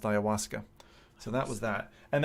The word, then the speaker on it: ayahuasca: Steam it's spelled aya h.u a ska and pronounced ayahuasca so that was that and then lo and